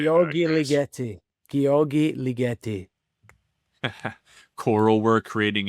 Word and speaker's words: Ligeti: Ligeti.